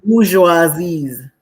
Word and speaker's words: bourgeoisie: How it's pronounced? The bourgeoisies.